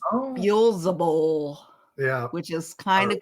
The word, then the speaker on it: Beelzebul: And Beelzebub is, of course, not his real name. No. It is a mispronunciation. There's reasons for that, as we discussed also, that they purposely miswrote their names from the Testament of Solomon. So, but I know his real name, and it is Beelzebul.